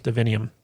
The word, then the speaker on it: divinium: allow her to heal divinium divinium thank you rhymes with divine yeah and uh so